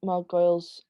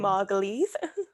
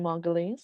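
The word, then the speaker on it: Margolyes: other side and i love them the miriam mark goyles i don't know how to say her last name miriam margulies miriam margulies thank you i love her mention there i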